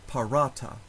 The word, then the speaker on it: parata: syllable femina in the word paratha the second to last syllable has a long vowel long a so that syllable receives the stress parata in the last word